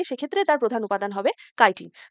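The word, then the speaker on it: chitin: আর ফাঙ্গাসের ক্ষেত্রে প্রধান উপাদান সেল ওয়ালের সেটা হচ্ছে কাইটিন, ঠিক আছে, উচ্চারণ হচ্ছে কাইটিন।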